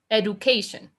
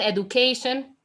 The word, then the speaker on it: education: So technically, I would say this word is pronounced education. Edu, como educación, claro. Educación, education. But in reality, that D is pronounced like a J.